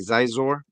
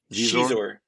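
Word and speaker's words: Xizor: Prince am I saying it right? Zizor? Shizor. Shizor. There you go.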